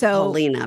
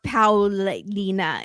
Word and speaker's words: Paulina: It's Paulina, but okay. Or Paulina. It's not Paula, but we all just call her that now because that's how you call her.